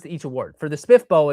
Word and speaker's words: SPFBO: Sometimes like, I just barely learned that SPFBO was SPIFBO recently.